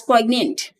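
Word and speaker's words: poignant: or regret that is poyant it is pronounced as pant then we have another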